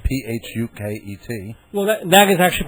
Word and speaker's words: Phuket: There's also a big place in Thailand spelled P H U K E T. No, that that is actually pronounced Phuket.